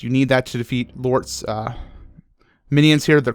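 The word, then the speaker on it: Llort: So um and it's spelled L L O R T. Lort.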